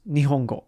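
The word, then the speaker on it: 日本語: how do you say Japanese uh it's just nongo or nongo nongo that sounds coolon meaning Japan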